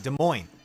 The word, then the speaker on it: Des Moines: Des Moines. The S is silent.